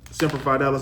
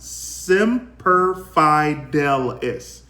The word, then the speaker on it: Semper Fidelis: of this time um semper fi dallas always faithful in Latin CT is pronounced semper fidelis thank you for that